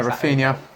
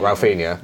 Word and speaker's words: Rafinha: Rafinha. Rafa. Rafinha. Ralph. It's like Ralph, but without the L.